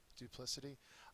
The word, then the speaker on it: duplicity: tougher ones this unit duplicity uh so it's a noun as I said the second syllable is accented and it means treachery